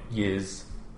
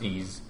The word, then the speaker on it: Ys: and I always grew up calling it yiz like I say y three but um I I read online eventually was pronounced ease and ease books one